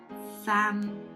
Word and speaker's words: Phạm: So we got A, which is pronounced as a. Together with the M final consonant, we got am. And the PH is f, just like the F sound in English. And together we got fam. Now the dot tone is the low falling broken tone. And to pronounce this tone, you have to go down, but it drops very fast. Fa.